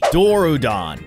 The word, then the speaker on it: Dorudon: you've saved me yet again from my stupidity dorudon that's a cool name actually now that i